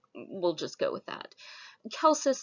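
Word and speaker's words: Celsus: just go with that kel says sometimes you'll hear him pronounce celsius i prefer the hard c that's how it works in latin the de medicina his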